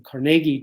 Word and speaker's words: Carnegie: other people etc etc carnegie makes a decision to change the spelling of his name and the pronunciation as well and he changed it to carnegie c-a-r-n-e-g-i-e so from carnegie to carnegie and i think there